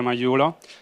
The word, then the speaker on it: Magliulo: you for joining us my name is Valerio majulo I'm the co-founder and CEO of abateable today